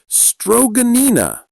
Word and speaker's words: stroganina: In Yakutia, when it's minus 55 outside, they practice something called stroganina. Let me spell that out.